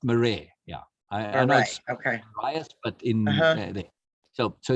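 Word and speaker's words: Marais: and that's m-a-r-a-i-s a-i-s eugene eugene and it's pronounced murray yeah nice okay so so here are two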